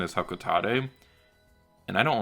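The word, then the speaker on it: Hocotate: and kids on hakata captain nonomar have been pronouncing it hakuta forever but according to super smash brothers the official pronunciation is hokka tate and i don't like that because the company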